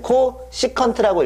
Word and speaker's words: csc: 읽으실 때는요, 코탄젠트라고 읽으시면 됩니다. 아니, 코시컨트라고 읽으시면 됩니다.